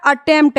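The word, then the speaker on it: attempt: तो यहाँ जो P और T एक पास आया है तो इसलिए P को हमने क्या कर दिया है, साइलेंट कर दिया। तो ये क्या है, हमारा सिर्फ क्या है, अटेम्प्ट है।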